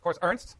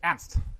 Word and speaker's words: Ernst: The American pronunciation is of course Ernst because it's like Ernie and Bert, but in Germany it's Ernst, yeah, which also means serious, right?